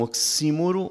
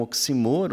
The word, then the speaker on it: oxímoro: Como nós sabemos, sustentabilidade ambiental tem sido tida como um oxímoro ou um oxímoro, as duas pronúncias acho que são possíveis, que é uma expressão de contradição entre termos, como clara escuridão ou silêncio eloquente.